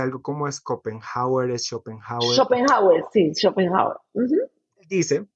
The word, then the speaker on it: Schopenhauer: No sé de dónde es, pero se pronuncia algo como Schopenhauer, es Schopenhauer.